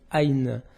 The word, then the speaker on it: Aïn: Aïn, ça prononce Aïn en arabe, et c'est l'œil.